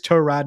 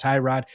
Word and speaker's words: Tyrod: And I'm going to go out on a limb and say it right now because whether it's Trod Taylor, and it is Tro Rod, not Tyrod.